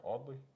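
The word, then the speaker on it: Audley: all the in all that's how you pronounce it right oddly a-u-d-l-e-y w d l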